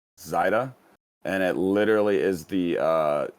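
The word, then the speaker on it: Seide: My last name is actually pronounced Zaida, and it literally is the German word for silk.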